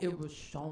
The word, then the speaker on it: Eroshawn: gotta say her name like Eroshawn.